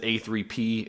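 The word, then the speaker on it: APPP: is the production company you'll see it online abbreviated just a-p-p-p but you pronounce it a3p and that stands for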